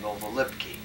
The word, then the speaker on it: Novolipki: We lived on a street called Novolipki. I spell it.